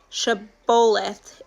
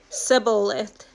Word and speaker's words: Shibboleth: If the man said, "No, I'm not," they would tell him to say Shibboleth. If he was from Ephraim, he would say Sibboleth, because people from Ephraim cannot pronounce the word correctly.